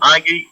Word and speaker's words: agai: Palabras cortas con el sufijo agei en idioma Garifuna es a, g, a, i. Ya en su pronunciación es agei, lida liriduno, agei.